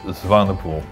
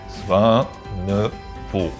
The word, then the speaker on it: Zwaenepoel: Okay, my surname is pronounced Zwaenepoel. That is Zwaenepoel.